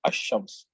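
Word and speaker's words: الشمس: So if you say the moon, you have to say al qamar, and if you say the sun, you have to say ashams.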